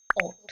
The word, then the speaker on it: Hautee: सो it's name is ओट।